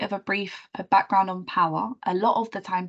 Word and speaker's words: POhWER: our name stands for cuz it's spelled quite weirdly and there's kind of like a random H plunked in the middle of our name so power actually stands for people